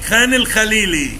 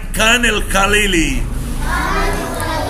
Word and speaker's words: خان الخليلي: طبعا الكي اتش بننطقها خ. اهو هوريك خان الخليلي ده مكان يا حبيبي. ادي خان الكي سايلنت وال عشان بتيجي في البانكتويشن الاي كابيتال وبعدين شرطه ونعمل كي كابيتال يبقى اسمها ايه؟ خان الخليلي. طبعا هم بيقولوها ازاي؟ كان الخليلي عشان ما بيعرفوش ينطقوا الخاء فبيقول كان الخليلي.